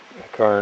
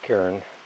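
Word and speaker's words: cairn: had enough aha Found A Kar or Karen people pronounce it both ways here but it's a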